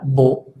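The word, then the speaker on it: beau: Luego, el triptongo, no es un diptongo, es un triptongo, EAU, también se pronuncia O. Estamos incluyéndolo, por cierto, en la lista porque al crearse también lleva cambio de sonido. Entonces, por ejemplo, una palabra de este tipo sería bo, que es bello o hermoso.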